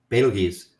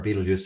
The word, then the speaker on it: Betelgeuse: So we've seen stars undergo phase transitions, and again, it's believed that things like the star Betelgeuse, or Betelgeuse, depending on your pronunciation, is a star that's going through unstable period where it is potentially transitioning to the next phase.